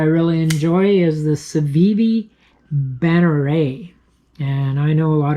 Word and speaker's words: Banneret: knife that I really enjoy is the savivi banneray and I know a lot of people pronounce it bannerette I've been told by French viewers that banneray